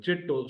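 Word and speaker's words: چٽو: और लिखा गया, इसको प्रोनाउंस ऐसे किया जाएगा, बॉटम में लिखा हुआ है चिट्टो, CHITTO, चिट्टो, चे पर जेर, टे और वाव आपस में मिले हुए जबर के सुर के साथ, राइट, अंडरस्टैंड।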